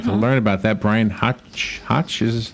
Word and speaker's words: Hoch: It's Hoch. Rhymes with Coke.